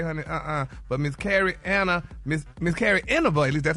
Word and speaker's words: Inaba: But people say, honey, But Miss Carrie Inaba, at least that's how you pronounce her last name. Carrie Inaba. Inaba, yeah, thank you.